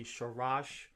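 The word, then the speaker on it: שרש: And then you see the Shah again, and we know in between our letters is a short A sound, so we say Sharash.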